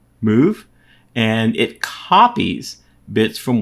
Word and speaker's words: mov: thinking about it uh mov is pronounced move and it copies bits